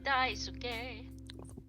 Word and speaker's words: Daisuke: Yeah, Daisuke.